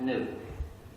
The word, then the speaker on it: gnu: than that the word gnu is the most humor-charged word in the english language used in countless wordplays because according to the dictionary the g is silent and it's pronounced new so every time you